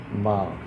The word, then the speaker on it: م: एम की जो आवाज़ है, माँ माँ माँ जिसे कहते हैं, ये छोटा सा गोल करेंगे, इसको ऐसे माँ, इसको ऐसे कहते हैं माँ।